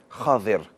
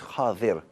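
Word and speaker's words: خضر: खज़र, some people say is खिज़र, it's not खिज़र, the correct way to say it is खादिर, खादिर, द्वाद के साथ।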